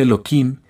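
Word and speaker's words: Elohim: juicio por lo tanto se escribe el nombre de la Misericordia pero se pronuncia eloim que es juicio porque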